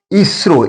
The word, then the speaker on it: ISRO: Indian space resource organization it's acronomy is IS is ISRO ISRO it produces V sound at its beginning so before I isro we if you use